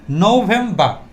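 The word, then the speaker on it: November: আরটা সাইলেন্ট থাকবে এবং প্রত্যেকটা বারের যে আর আছে প্রত্যেকটাই সাইলেন্ট থাকবে সো আমরা দেখতে পাচ্ছি নভেমবা তিনটা স্লেবল ওয়ান টু থ তিনটা স্লেবল স্লেবল মানে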